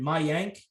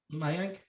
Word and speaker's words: Mayank: Mayank is how you say this, I believe. Mayank.